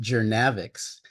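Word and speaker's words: Journavx: was some controversy about the brand name which is pronounced gavic which refers to the journey to develop selective nav Inhibitors but I'll refer to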